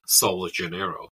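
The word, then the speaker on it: Sol de Janeiro: American Brazilian brand called sa Janeiro um I I'm hopefull I didn't butch the pronunciation because it it's it the J isn't soft in this case here um unlike normally in Portuguese and that business is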